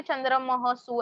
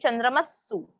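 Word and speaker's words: चन्द्रमःसु: वो मैंने आपको समझने के लिए चंद्रमहसु ऐसे रीड किया, ऐसे रीड नहीं करना है. We have to read चंद्रमस्सु, चंद्रमस्सु.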